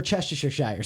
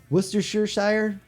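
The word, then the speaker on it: Worcestershire: So, for example, I cannot correctly say I just can't. We're It's We're Cheshire Shire sauce. I cannot say it any other way. That's fine. Worershire. It's okay. Nobody can say that correctly anyways.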